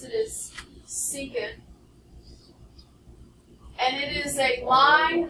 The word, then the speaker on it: secant: through the center or not this is called secant long e and tangent no it's not trick